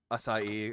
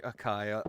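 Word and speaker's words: açaí: Yeah, if it makes you feel better, I pronounce Asai Akai sometimes. Yeah, because it's one of those things like you see it and you're like, "Oh, you're thinking Kai like Dragon Ball Z Kai." But it's not.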